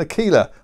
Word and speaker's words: Aquila: Aquila 70 catamaran and it's not an Aquila it's an Aquila I always pronounce it wrong I'm sure that's right Aquila I get told